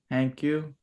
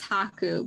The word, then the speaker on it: Haku: And then Hanku. I'm pretty sure it's Haku, but I'm not Uh, 100% sure on that I one. think that Pretty sure it's sounds Haku.